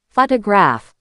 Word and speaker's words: photograph: Take the word photograph. The stress is on the first syllable, photograph.